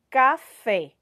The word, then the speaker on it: café: essas palavras aqui ó café quando a gente fala café falem aí tá junto comigo percebam que esse som ele sai mais aberto a boca da gente